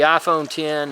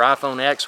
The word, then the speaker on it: iPhone X: big to carry so that's an advantage the iPhone 10 or iPhone X whatever you want to call it again I've heard it pronounced both ways the you know a lot